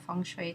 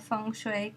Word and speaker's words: Feng Shui: Now the pronunciation of Feng Shui can vary. Feng rhymes with sung and Shui rhymes with sui in the way that has become the standard pronunciation of this art in the United States.